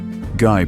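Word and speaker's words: Gey: Guy pronounced.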